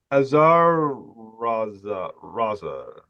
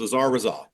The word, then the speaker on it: Azar Razal: So Azar Raza. Actually, you came pretty close. Azar Razal.